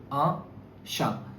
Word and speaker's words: un chat: Here you will not pronounce T with eta. You will not say eta. It is un chat.